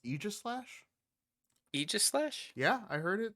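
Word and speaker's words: Aegislash: and i've actually heard i used to say age slash but i heard it was actually pronounced aegis slash aegis yeah i heard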